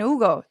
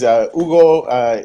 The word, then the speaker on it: Hugo: And Hugo. yeah. Our website is Hugo. It's HUGO. The H is silent.